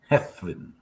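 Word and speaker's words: Hedd Wyn: So the double D is pronounced as a TH. Oh, Hethwin. Okay.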